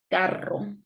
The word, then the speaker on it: carro: But if it is in the middle and it's double R, we have a strong sound, carro.